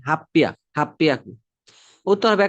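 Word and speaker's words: はっぴゃく: ঠিক একইভাবে 800 মানে হচ্ছে হাপ্পিয়াকু, হাপ্পিয়াকু। তো এই ছোট সুর কারণে এটা কিন্তু ডাবল উচ্চারণ হবে, হাপ্পিয়া, হাপ্পিয়াকু।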